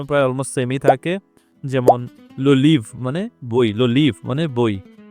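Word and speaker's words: les livres: জিনিস মাথায় রাখতে হবে ফরাসিতে বেশিরভাগ ক্ষেত্রেই কখনোই শেষের বর্ণটা উচ্চারিত হয় না যেমন ইংলিশ যদি আমরা এটাকে উচ্চারণ করতাম লিভরেস বাট এইটা কখনোই না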